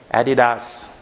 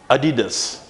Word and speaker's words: Adidas: I have heard them mispronouncing this word as Adidas, right? But it's not actually the correct pronunciation of that word. So what is it then? It's Adidas. Adidas. A-D-Das. This is how it has to be sounded. And this is the syllables. There are 3 syllables actually.